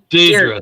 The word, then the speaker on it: Deirdre: Deidre, thank you.